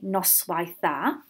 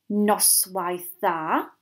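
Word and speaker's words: noswaith dda: we want to say good evening we say nice wife that and for good night we say Norstar so I'll say those again board our turn hound our nice wife thar nor stir and again board our plan hound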